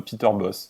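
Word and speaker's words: Peter Bosz: En néerlandais, on dit bien Peter Boss.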